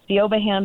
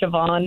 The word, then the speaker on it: Siobhan: so um you know you look at it it looks like thean but it's not it's the Irish sioban yes but yeah I